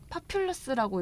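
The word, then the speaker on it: populus: 파퓰러스라고 읽는 거 맞나요? 파퓰러스, 네, 맞습니다. 파퓰러스.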